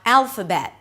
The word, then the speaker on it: Alphabet: A B sound, the E as in red, and a T that is usually a held T. So you don't really release it. You just stop your voice abruptly. Alphabet.